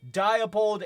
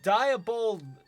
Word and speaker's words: Diabol: malara's most trusted general diabold is a ruthless mastermind who never fails while diabol oh diabol i keep pronouncing it with the d at the end but it's diabol prefers to dictate the